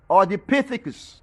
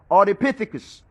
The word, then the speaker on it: Ardipithecus: Then call them also, other books, then call them on there, the Ardic with the A-R-D-I. But the full name is the Ardipithecus. The Ardipithecus. Ardipithecus. That's how you pronounce. Ardipithecus.